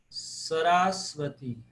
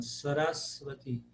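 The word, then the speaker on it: Sarasvatī: Sarasvati. Sarasvati. Pro paroxítona. Sarasvati. Porque o A é breve, mas é seguido de duas consoantes.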